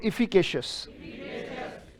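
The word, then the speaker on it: efficacious: अच्छा, इफी कैसे पढ़ोगे? बिल्कुल सही। के कैसे पढ़ोगे? के। सी कैसे पढ़ोगे? यस कैसे पढ़ोगे? इफिकेशियस।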